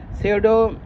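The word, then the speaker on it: pseudo: this is अ पी P this is अ सीओडो सेडो scientific एकम यह पी जो है silent है लेकिन सेडो का मतलब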